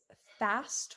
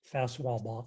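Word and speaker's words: Faswall: block or the fast fast block and it's spelled f-a-s-w-a-l-l it also has some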